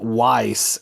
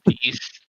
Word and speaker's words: Ys: I called it Weiss until I watched a YouTube video and I said, oh my god, I'm so stupid. Yeah, I think it's East.